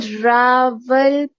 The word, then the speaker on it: Rawalpindi: little more slowly so I can get the syllables up? What is it called? it is called Rawalpindi.